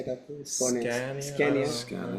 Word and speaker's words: Skåne: Skåne.